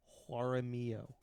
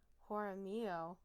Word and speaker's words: Jaramillo: Okay, I'm not going to let you mispronounce this name as badly. Okay. What? Jaramillo. Jaramillo. Okay. That's how you would pronounce that name.